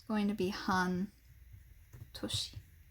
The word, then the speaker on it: 半: away from each other it's basically only ever pronounced han like there is another